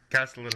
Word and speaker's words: Castellaneta: Castellaneta?